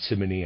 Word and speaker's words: Simony: an example readers aside simony I'm pronouncing it that way is s-i-m-o-n-y and it reads aside